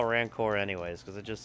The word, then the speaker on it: rancor: Like I actually looked it up to see and like every single pronunciation thing I found called it ranker. So I was like, well maybe I'm wrong. Maybe I'll just call it rancor anyways because it just sounds cooler.